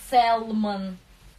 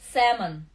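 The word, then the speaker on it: salmon: Вот он не читается не сальмон, да, он не читается сэлмон, сэмон, эл не читается, сэмон, сэмон.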